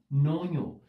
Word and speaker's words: নঞ: যারা সঠিক উত্তর করেছ আমরা এটির উচ্চারণ করে থাকি নয় অর্থাৎ একটা ইয় আছে এই কারণে আমরা বলছি নৈয় এটাকে আমরা নয় বলে থাকি যখন তৎপুরুষ সমাস হোক বা নয় সমাস হোক এভাবে আমরা বলি নয় তৎপুরুষ সমাস নয় বহুবৃহী